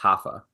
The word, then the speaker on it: Rafa: I think he's Brazilian, so I think it's pronounced Rafa. With an R? In Portuguese, they pronounce the R's like we do H's.